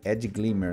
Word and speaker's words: AdGlimmer: de de vocês aí eu até falei errado a pronúncia do da ferramenta né é Ed glimmer né é assim a pronuncia assim eu falei glim eu tem uma tem